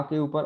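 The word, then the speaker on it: cão: तो ये तिल जो है अगर आ के ऊपर आता है तो इसका मतलब है कि आ को हमें नजाल, नाक में उसकी आवाज आएगी, है ना।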